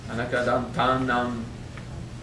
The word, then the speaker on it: Anekadantanam: Why do I seem to be pronouncing tam nam as tanam? Okay, it's because tam nam, the sandhi will apply, and you eventually just won't hear the M. Okay, Anekadantanam.